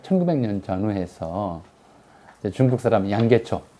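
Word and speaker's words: 梁啓超: 그런데 이걸 이제 그 기독교를 안 믿었던 사람들은 이제 대략 1900년 전후해서 이제 중국 사람 양계초, 뭐 발음은 양지차오 그러는데 양계초라는 사람이 은빙실 문집이라는 자기 책에다가 이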